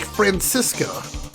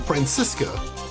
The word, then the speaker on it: Franziska: In Germany, we pronounce it like Franziska. Alright, that might actually be more accurate. I will probably try and say it like that from now on. Franziska.